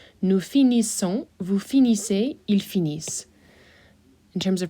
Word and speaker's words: finissent: And in this case of ending with the ISS, ENT, remember that your ENT is silent, so you will not hear that.